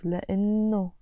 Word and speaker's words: لأنه: Here you notice I'm not pronouncing the H, it's لأنه.